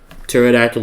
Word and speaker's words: pterodactyl: And as always Pterodactyl is spelled with a P. That's why you can't hear it in the bathroom cuz the P is silent.